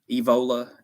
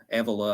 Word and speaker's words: Evola: let's see Tony vote Tony Evola Evola Avila I've heard it pronounced both ways um because said I